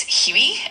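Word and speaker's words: huit: Number eight in French is Huey and it's spelled H UI T.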